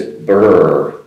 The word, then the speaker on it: brr: A common interjection for when you feel cold is “brr” “Brr” gives the idea of feeling cold, which is “b-r-r”, no vowel in there, but pronounced as “burr”.